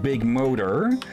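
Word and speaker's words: ビッグモーター: with that car company it was called big motor though with Japanese pronoun pronunciation was more big Moto and yeah they were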